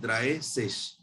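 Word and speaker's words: dreißig: 30 को हम बोलते हैं द्राय सिश, ठीक है। अगर मैं इसकी एग्जैक्ट प्रोनाउंसिएशन बोलूं तो ठीक है, 30 को हम लोग द्राय बोलते हैं।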